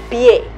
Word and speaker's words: pie: muy mal pensar señora porque pie no lleva tilde Pues porque es una palabra con una sola sílaba pi e yo diferencio